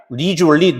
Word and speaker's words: leisurely: 리주얼리, 느긋하게. 자, 우리 바깥에 가가지고 스포츠하고 캠핑하는 거 무슨 활동이라고 그래요? 레저 활동. 리주얼이라고 발음합니다.